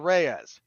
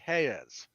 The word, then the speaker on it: Reyes: this go oh Mr Reyes none of you would say that it would be Hayes and it drives me